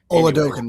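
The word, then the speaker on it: Oladokun: Oladokin, yep.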